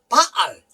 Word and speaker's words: 바알: 요걸 발음할 때 요거 액션들 한번 따라합시다. 바알이요.